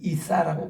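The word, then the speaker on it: عيسى: 부인하는 것이 꾸란에서 얘기하는 예수를 이사라고 그래요. 이사 이 엘라 발음으로 자기들 그 아라비아 발음으로 이사는 그런 선지자의 한 분일 뿐입니다.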